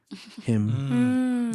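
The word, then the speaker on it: hymn: there wasn't H ym wait that's how it's spelled h ymn him yeah like that real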